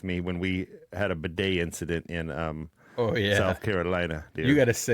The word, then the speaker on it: bidet: Bidets. Got it. Bidet. It's in my notes. Hate. How do you wait? You actually pronounced that correctly.